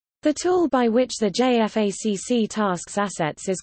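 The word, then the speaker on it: JFACC: joined force air component commander J FACC is a United States Department of Defense doctrinal term it is pronounced J FAC it refers to a senior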